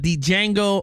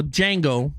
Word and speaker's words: Django: box office numbers for uh Django or Django because D is silent.